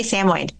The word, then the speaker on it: Samoyed: I say Samoyed. I believe you. I think it needs to come with a little pronunciation card.